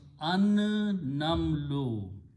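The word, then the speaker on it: النمل: it will kill the sound of lam and pronounce twice, so it becomes an-namlu.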